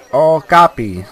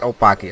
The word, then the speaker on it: Okapi: Okapi, not Opaki, Opaka.